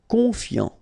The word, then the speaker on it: confiant: Final T not pronounced. So I-A-N, yan, fiant, confiant.